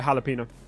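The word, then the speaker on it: jalapeño: abuser by the way you don't need to put the the accent on the end uh for jalapeno I was just checking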